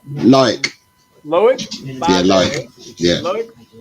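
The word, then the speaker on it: Loïc: How do you pronounce his first name? Loic.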